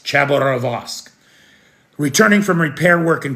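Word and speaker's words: Khabarovsk: We saw uh a military helicopter that was returning from repair work in uh Cavarorsk. That's not the right way to say that. I'm sorry. Chabberosque Chaborosque.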